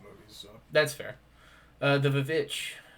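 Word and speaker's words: The VVitch: Uh, The Vich or The Witch as they pronounce it.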